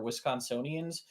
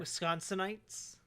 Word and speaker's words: Wisconsinites: only for Wisconsins or Wisconsinians. How do you say that, Jack? I'm not entirely sure. Wisconsinites. Wisconsinites. There we go.